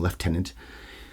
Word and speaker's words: lieutenant: is leftenant Guild yes I love saying leftenant the British pronunciation of that where do you get the F from it's ieu he's one of many